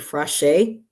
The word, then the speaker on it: Frasche: Her name is Lexi Frasche. Is that how you pronounce it? I think fresh. Frasche. I think just fresh. Fresh, Fresh, yeah.